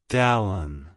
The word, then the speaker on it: Dallan: It's pronounced as Dallan. Dallan. Dallan. To pronounce it correctly, emphasize the first syllable, Dale, and then the second syllable, un.